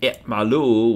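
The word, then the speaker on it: اعملوا: It becomes i'mali if you're speaking to a woman, and i'malu with a silent aleph if you're talking to a group of people.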